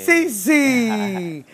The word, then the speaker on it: Siicie: Sisi! Mutri didn't know what I say about Dion. Sisi. But the way you spell it, it's a guy. S-I-I-C-I-E. Sisi.